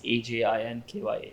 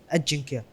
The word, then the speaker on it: Ajinkya: Pronounce it. Ajinkya. No, not spell. No. Sorry. How do you pronounce Ajinkya. it? Ajinkya.